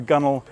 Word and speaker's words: gunwale: It is the gunwale. It's spelled G-U-N-W-A-L-E, and it is this point on the edge of the deck at the top of the hull.